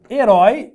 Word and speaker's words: herói: falo a palavra herói herói é uma oxítona A e termina com essa junto aberto herói Então aqui tem acento